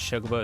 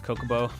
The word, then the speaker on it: Chocobo: You used to pronounce Chocobo as Kokobo.